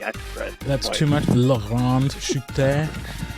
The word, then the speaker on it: Grand Chute: It is Grand Chute.